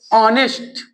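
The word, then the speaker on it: honest: ऑनेस्ट ऑनेस्ट मैन, ऑनेस्ट मैन। तो देखो यहाँ पे क्या आया, ऑफ, यहाँ अ का क्या हुआ, ए एन। यहाँ पे यच साइलेंट होता है, इसमें यच जो होता है साइलेंट होता है।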